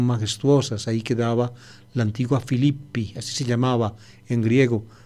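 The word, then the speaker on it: Philippi: sujeto es en y filipo se escribe filipo y se pronuncia filipi el nombre de la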